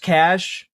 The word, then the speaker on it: cache: It's Look, I also I know it's pronounced cache.